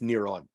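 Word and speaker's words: נרון: Because Nero in Hebrew would have been pronounced Neron.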